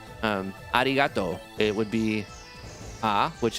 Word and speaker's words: arigato: one word arigato and the o also has a hyping over it because you have a u at the end actually arigato which is just uh thank